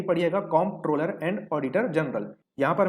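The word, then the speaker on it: Comptroller: इसका सही अर्थ होता है कॉम्प्ट्रोलर एंड ऑडिटर जनरल, क्योंकि मैंने बहुत लोगों को गलत उच्चारण करते हुए इसका देखा है, कंट्रोलर एंड ऑडिटर जनरल पढ़ते हैं, लेकिन बिल्कुल भी ऐसा नहीं है। ये क्या है? कॉम्प्ट्रोलर।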